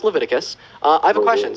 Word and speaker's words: Leviticus: I'm waiting all right so there's a 1822 levius 18 it's pronounced it's it's pronounced Leviticus uh I have a question so you think